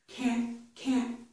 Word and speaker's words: can't: However, when I say this word, I'm stopping air in my throat, but I do continue with the beginning of these sounds. I put my tongue on the ridge, but I don't release it. So we don't hear that release of air, okay?